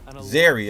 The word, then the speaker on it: Zeri: Zeri, okay, that's how you say it.